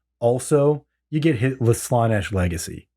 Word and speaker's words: Slaanesh: Well, it's not Slan. It's just Slaanesh, Yeah.